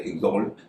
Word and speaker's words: exalt: जैसे पहला शब्द है एक्सॉल्ट, EXALT, इसमें एक्स के बाद ए है और एक्स का उच्चारण ज हो रहा है।